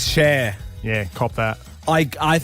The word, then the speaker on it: Cher: once your mic goes live, I do want to ask you, how do you pronounce the singer? Sure. It's Cher.